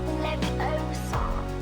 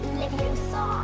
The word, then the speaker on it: Leviosa: Besides, you're saying it wrong. It's Leviosa. Not Leviosa.